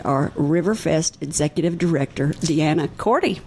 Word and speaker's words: Korte: My guests today are Riverfest Executive Director DeAnna Korte. You said it right the first time. Korte?